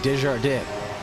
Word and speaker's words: Desjardins: Desjardins, excuse me, Desjardins. That's the correct pronunciation for that driver's name in the number 88 Aston Martin, Desjardins.